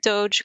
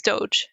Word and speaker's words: Doge: My understanding is the meme is Doge, but I call it dog coin. Yeah, it is Doge. I just hate it. I hate it. I purposely mispronounce it dog.